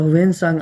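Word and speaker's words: Hiuen Tsang: शासनकाल में आया था वेन सांग और जो इसकी इंग्लिश स्पेलिंग होती है वो एच आई ई यू एन टी एस ए एन जी टी वहां साइलेंट है तो इसलिए इन लोगों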